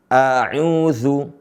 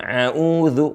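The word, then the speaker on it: أعوذ: dari Hamzah ke Ain audzu a audu bukan auudu bukan Ain seringkiali dibaca auudu au bukan A tapi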